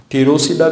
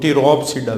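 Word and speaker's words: Pteropsida: पी इसमें silent होता है, तो इस वजह से हम इसकी प्रोनाउंसिएशन टीरोसिडा भी है और टीरोप्सिडा भी है। जो आपको अच्छा लगे आप प्रोनाउंस कर सकते हो।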